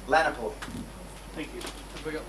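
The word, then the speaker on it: Lahuani: Lanapoy. Thank you. Have we got one more thing? It's spelled in an unusual way, but it's L-A-H-U-A-N-I. But anyway, but Lanapoy's how it's pronounced.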